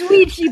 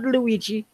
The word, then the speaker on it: Ouija: I think Wega that's a board? I think No, that's Ouija board. I don't know how to pronounce it, okay? It's Ouija board. It's Can you Ouija burn board. a Luigi board? Not Luigi. Ouija.